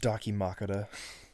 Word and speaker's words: dakimakura: here heroines who is this game before it's pronounced dakimakura we're moving on from the dakimakura dude who's